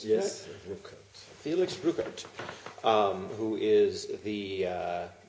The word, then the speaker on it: Ruckert: This is Felix Ruckert, is that pronounced? Yes, Ruckert.